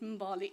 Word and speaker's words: Mbali: Now, the other side of it, Mbali, well, I pronounce it Mbali, is an acronym.